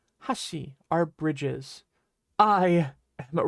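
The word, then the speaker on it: 橋: So bridges are called hashi in Japanese, but be careful because hashi is also how you pronounce the word for chopsticks.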